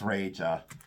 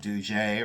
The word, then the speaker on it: Reja: Reja, but it is R-E-J-A. And some people would say, well, is it Duje or is it Deja? No, no. It's R-E-J-A, Reja. Reja sterling. That's what I've always pronounced it.